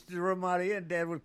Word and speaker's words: Ramada: In other words, he called it the Ramadan. It's Ramada. Ramadan.